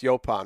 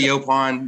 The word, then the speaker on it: Yaupon: fascinating um so the yelan or yopan it's pronounced yopan right it's comes from a kaban word um